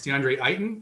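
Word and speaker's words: DeAndre Ayton: think first of all i got a correction i'm sorry it's deandre eighten i i know you don't i don't even mean to pronounce his name wrong but it's deandre sorry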